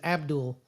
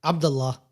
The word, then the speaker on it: Abdul: His name is Abdul. I want to say it like how I usually say it. Abdullah. Abdullah Carter.